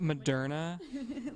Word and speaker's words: Moderna: last three years because it's pronounced moderna no because no because